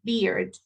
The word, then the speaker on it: beard: Y si yo me como esa D y no la digo y no la marco, entonces ya en lugar de decir barba, dije cerveza. Entonces be y beard.